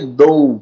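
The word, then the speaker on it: dough: Então a gente falaria dou, por exemplo, dou, ou então zou, né? Zou, mas não é dou, viu? E esse GH aqui, ele é mudo. Ele não tem som, tá?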